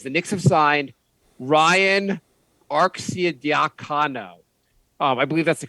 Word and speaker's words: Arcidiacono: The Knicks have signed Ryan Arcidiacono. I believe that's the correct way to pronounce his last name.